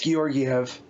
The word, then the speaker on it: Georgiev: Yeah, if it's like the old goalie for the Rangers, it's Georgiev.